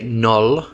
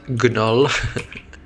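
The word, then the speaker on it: gnoll: oh thanks Phillip yes the g is silent so I should say null not Gull um good catch there's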